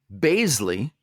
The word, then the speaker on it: Bazeley: with us today will basley oh which which he told us today we're like hey hey man how do you say your name he's like you say it like Paisley yeah he said that